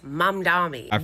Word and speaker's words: Mamdani: I know it is Mamdani with an M.